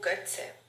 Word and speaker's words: Götze: So I'm gonna link in the description below, because of them, you guys get to laugh at me for my bad pronunciations. Mario Götze.